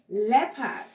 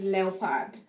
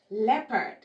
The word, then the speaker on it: leopard: now the tricky L word is leisure eh leopard a lot of times people call this leopard but it's pronounced leopard the old is a silent sound leopard we